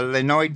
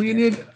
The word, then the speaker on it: Leonid: site for that uh Leno project and I'm probably pronouncing that one wrong yeah Leonid project Leonid I did but I took